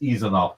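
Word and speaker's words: Isanove: I mean, and I think it's pronounced Eisenoff too, just because I want to get it right.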